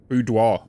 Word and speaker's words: boudoir: How do I pronounce this? Boudoir? It's French. Right? Boudoir.